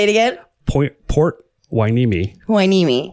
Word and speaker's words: Hueneme: I looked it up, so I wasn't pronouncing it wrong. Oh, okay, say it again. Port Hueneme. Hueneme.